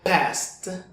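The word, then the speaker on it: passed: el pasado de pasar el pasado de past se pronuncia past past con este sonido al final en el caso de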